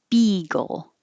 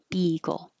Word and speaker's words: beagle: it has a bay the dog is beagle and it's bee beagle analogous analogous analogous similar and